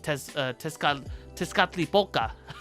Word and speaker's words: Tezcatlipoca: just kind of created on a whim by Tezcatlipoca. I got the pronunciation down, baby.